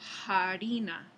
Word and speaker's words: farina: esa palabra jaa y el último ejemplo ahí es farina se pronunciaba ya para el Castellano medieval como harina y eso es curioso